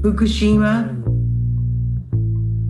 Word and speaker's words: Fukushima: Here, in Fukushima, it rhymes with Hiroshima.